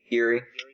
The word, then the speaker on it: Uri: Half of this is about, how do you pronounce it? Is it Uri or Yuri? Yuri.